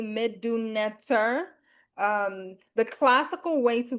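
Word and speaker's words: Medu Neter: We said Medunetra, and Yeah. you just said it was Medunetter, Yes. right? So that was like an eye-opening thing because I've been saying it wrong all this time.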